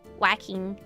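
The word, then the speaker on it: Waacking: wrist movements um it's it's spelled whacking like w a a c k i n g whacking it's really cool I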